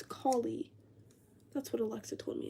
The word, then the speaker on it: Kali: But I thought her name was Callie. I didn't know it was Collie. But apparently it's Collie.